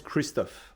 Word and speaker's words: Christophe: My name's Christophe, by the way. All right. Like- If you'll spell that for Like me. Christopher, but without the R at the end.